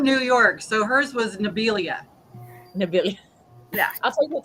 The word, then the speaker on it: Nabila: Nabila." Nabila. Okay, because we've had every variation of it. Nabila. Now I will tell you this, Melissa. Every time I saw Melissa would go Nibila.